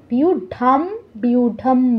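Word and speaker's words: ব্যূঢাম: বিউঢাম দ্রুপদ পুত্রের তো এই জায়গায় আমরা বাউম বলবো না বিউঢাম বলবো আচ্ছা তারপর অনুস্বারের বিসর্গ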